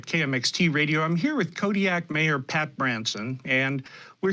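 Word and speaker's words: Kodiaq: well not completely artificial this car was named kodiak with a queue at the end but pretty much in rhyme with the alaskan isle and fishing city of kodiak with a k to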